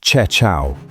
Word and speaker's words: Queqiao: In May 2018, they launched a relay satellite called Queqiao, pronounced Che Chiao, meaning Magpie Bridge, and parked it at